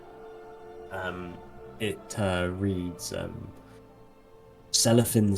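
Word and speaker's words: Celorfin: it uh reads um cellophan sing things kind of selloff thin yeah um which is spelled c-e-l-o-r-f-i-n um now inside the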